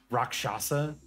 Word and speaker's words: Rakshasa: Honestly, I love that pronunciation because it sounds like an actual demon as opposed to Rakshasa, which sounds goofy as hell.